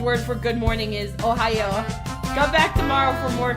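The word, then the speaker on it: おはよう: Did you know the Japanese word for good morning is Ohayo? Come back tomorrow for more Curse Trivia with J-Man. Yes, actually. It's spelled a different way, but it's pronounced the same way as Ohio.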